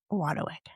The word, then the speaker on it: Wadowick: Did I say it right? Wadowick. And how do you really say it? No, that's perfect.